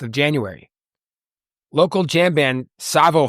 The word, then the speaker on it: Tsavo: Local jam band Savo Highway, that's spelled T-S-A-V-O, has their album release party for their new album Circles.